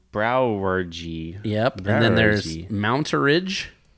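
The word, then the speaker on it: Brouwerij: I'm going to say it's pronounced brewery, but it's spelled BROUWERJI. Whoa. BROUWERJI. J. And then there's more, but that's just the first name. So that's saying brewery. Browergy.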